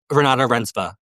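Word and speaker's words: Renate Reinsve: like the girl you're going to have to pronounce this for me Renata Renzvi. Renata Renzva.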